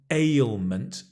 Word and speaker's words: ailment: A sickness, an ailment. Ail, it's a difficult word to say, I know. A, A, it's a sliding vowel. So you'll see my mouth changes.